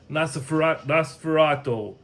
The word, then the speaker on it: Nosferatu: Nosferatu.